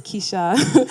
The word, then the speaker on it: Keisha: Kiisa, you're going to take this one. Okay. Oh, I should say my name is Keisha.